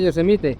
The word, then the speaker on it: Yosemite: Yosemite.